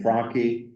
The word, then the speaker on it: Franke: We have Dean of Social Sciences with us today, Brandon Franke. I always mispronounce his name, but he told me today, a really good pseudonym is just, it's Donkey with an F.